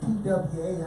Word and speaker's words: Twa: How you say that in America? That's Twa. Because you gotta understand, okay, you can say T-Y, you can say Twa, because you gotta remember saying two, the number, the T-W-O, two, so you can say T-Y or you could say T-Y or Twa.